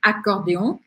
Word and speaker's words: accordéon: E quando uma palavra começa com vogal e a anterior termina com uma consoante, eu grudo o som das duas. Então, eu não falo un accordéon, mas eu acabo pronunciando un accordéon, un accordéon, un accordéon. E aí você já reparou o que acontece, sílaba forte no final.